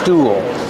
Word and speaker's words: stool: Use the ooh sound like cool and pool. Link to the dark L. Pool. Cool. Stool.